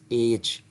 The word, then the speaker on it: H: एक एच को, जिसको हम लोग बचपन से एच कहते हैं, this is नॉट एच, this is एच.